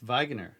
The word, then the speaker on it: Wegener: This is how they show to pronounce it. So that's Wegener.